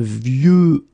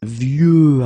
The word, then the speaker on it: vieux: And the last one is vieux, old, un vieux arbre. Okay, of course you've got this X at the end, but you don't pronounce it. Okay, so it's vieux arbre, and then vieux